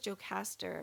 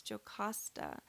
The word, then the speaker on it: Jocasta: I thought it was Jocasta, but I think it's Jocasta.